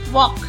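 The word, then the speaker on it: walk: पे जा रहे हैं हमने कभी ध्यान थोड़ी ना दिया है कि एलपी साइलेंट होता है कभी ध्यान नहीं दिया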